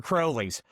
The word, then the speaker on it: Crowley's Ridge: It's It's for sure Crowley's.